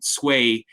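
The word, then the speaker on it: Tsui: Now Dan, you mentioned ecology and I'm reminded by your comments of the work of an architect named Eugene Sway. His last name is spelled T SSUI.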